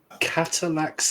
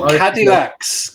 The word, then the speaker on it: Cadillac: that called catalac and dinosaurs the second cataclysm catalac and dinosaurs yeah what are cacs hey what are catalac it's a car an American car oh okay oh cadillax cadillax sorry sorry my pronunciation you all about